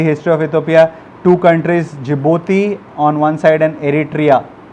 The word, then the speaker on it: Djibouti: Silent is called Djibouti.